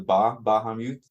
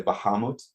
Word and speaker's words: Bahamut: I see online that there are 2 common pronunciations. I see you and I differ. You emphasize the Bahamut. I emphasize the ha. I say Bahamut, but it was interesting.